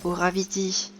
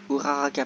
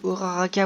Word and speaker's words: Uraraka: Donc là, là-bas il y a Uraviti, Aka Ochako, Uraraka, pardon, j'ai du mal avec l'air ces temps-ci.